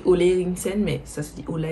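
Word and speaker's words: Ole Henriksen: Enfin, ça s'écrit Ola Eriksen, mais ça se dit Ola Eriksen.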